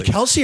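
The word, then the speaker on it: Kelce: we say it correctly Kelsey or Kelsey no it's actually technically he said this it is actually Kels but everyone started saying Kelsey they just didn't care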